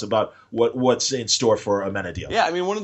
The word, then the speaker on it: Amenadiel: So say it for me. Amenadiel. Okay. I think Amenadude. That's how we finally got it. That's actually why one of the characters calls him Amenadude later, because that's how we've taught ourselves to correctly pronounce his name.